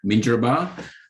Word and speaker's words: Minjerribah: very privileged um and as ricky said you pronounced it beautifully ricky uh minjuraba uh north stradbroke island but i also have